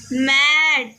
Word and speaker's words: made: यहाँ आपने इन एग्जाम्पलों में देखा, लास्ट में जो ई आया है, इस ई लेटर का कोई प्रोनाउंसिएशन, कोई उच्चारण नहीं हो रहा है। और ए का जो प्रोनाउंसिएशन है, ए का जो उच्चारण है वो ए में किया जा रहा है।